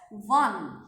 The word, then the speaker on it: one: I'm pronouncing it as one. So the spelling is actually W-A-N.